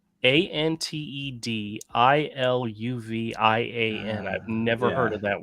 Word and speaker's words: antediluvian: So, antediluvian. Antediluvian. I've never heard of that word. Spell it again. Antediluvian. Ant as in ant. Ediluvian.